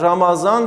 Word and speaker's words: Ramazan: örnek hepimizin bildiği gibi Ramazan Ramazan Ramadan şeklinde yazılır ancak Ramazan şeklinde okunur başka bir örnek izah